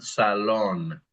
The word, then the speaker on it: salón: And salón is really a good place to emphasize how we pronounce our A's and our O's in Spanish. Salón. The next one is we are bold.